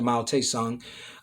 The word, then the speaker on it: Mao Zedong: know this another way i think mao zedong is how they originally uh pronounced it or said it but then they changed it to mao tae song um then you have